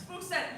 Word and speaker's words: Spookstein: You said it right. Nobody ever gets my name It's right. very hard to pronounce. Stein. Spookstein.